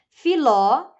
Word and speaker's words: Filó: tua ó Filó né Filó o assento está a tônica está na última sílaba pela indicação do assento